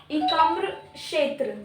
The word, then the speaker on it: एकाम्र क्षेत्र: एकाम्र क्षेत्र, के is silent, ancient sculpture art.